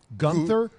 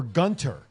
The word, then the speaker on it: Gunther: i heard dispute of how they're even pronouncing the name gunther or or gunter like the h being silent in order to avoid